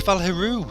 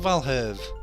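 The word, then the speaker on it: Valheru: evil and dread power oh it's valero it's not valhalve oh sorry i've been mispronouncing that the whole time andrea who wants to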